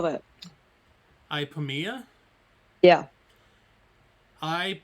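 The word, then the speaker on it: Ipomoea: want to notate it so proposed seeds of ipamiya oh wow hi pamia from your herbalism basically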